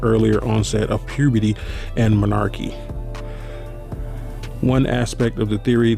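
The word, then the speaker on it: menarche: popular evolutionary theories on monarchy that's how you say it uh it sounds so weird they said monarchy sounds like malarkey but it's monarchy um explores the various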